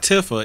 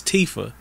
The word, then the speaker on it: Tifa: wait a minute her name is actually Tifa I thought people were saying it wrong so it's not Tiffa it's Tifa I like Tiffa I'm